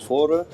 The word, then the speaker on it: Fårö: est de son nom fare en suédois ça se prononce for c'est une île qui